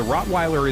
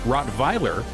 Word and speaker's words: Rottweiler: Since the Rottweiler is a German breed, its name can be pronounced as Rottweiler, the German way, or Rottweiler in the United States. Both pronunciations are acceptable.